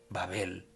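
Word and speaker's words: בבל: O sea, en otras palabras, ¿cómo se dice Babilonia en hebreo? Babel. Ok.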